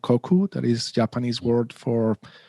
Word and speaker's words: koku: okay something like that so koku in not in french it's japanese and it's koku not koku um it's open source um